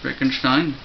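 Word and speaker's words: Wittgenstein: of Mr VI Mr Vicken Stein which uh his name isn't spelled Vicken Stein it's looks it looks like won gin Stein it's all German that's yes yes uh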